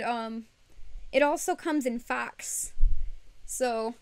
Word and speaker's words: faux: the thing is uh fox fur fox versus foe f-a-u-x fox it seriously it looks like you pronounce faux fur as fox when i was when